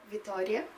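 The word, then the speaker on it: Vitória: Vitoria.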